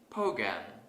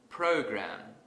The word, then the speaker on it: program: currently mispronounce this word suppose I say bogan instead of program I want to fix